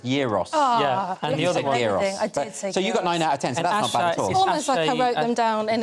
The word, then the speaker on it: gyros: of them right except Heroes and you said it's a kebab and it's pronounced Euros I wrote them down